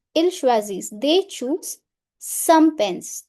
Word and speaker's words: choisissent: Il choisissent So, e n t in pronunciation is silent. Il choisissent, they choose some pens.